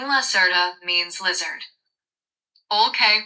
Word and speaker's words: Lacerta: Please call me Lasserta. This is the name I usually use when I am humans and speak with them. In French, the name Lasserta means lizard.